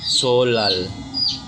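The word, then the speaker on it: 설날: babasahin Siya ay solal solnal kung babasahin ay sol nal kung ipo-pronounce ay solal. Ang meron kasi tayong ah changing roles kaya naging iba ang sound ng N. Naging L ang kaniang sound.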